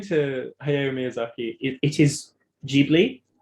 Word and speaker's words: Ghibli: So according to Hayao Miyazaki, it is Ghibli, like Ghibli, because it's based on an Italian aviation company's name, and in Italian it would have been pronounced Ghibli, and then sort of